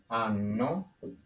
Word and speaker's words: hanno: in black, is loro hanno. Remember that H is silent. And loro hanno. So either way, taking away with this, the H's are silent.